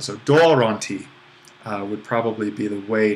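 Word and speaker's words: δῶρόν τι: For the most part, we'll just keep on accenting the original accent. So doronti would probably be the way to do it in our kind of modern pronunciation of Greek.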